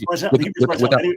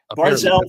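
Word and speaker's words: ברזל: Well, the Hebrew is barzal. Anyone who knows Hebrew knows it's barzal. It's not barzal. It's barzal. Okay, so let's say I mispronounced it.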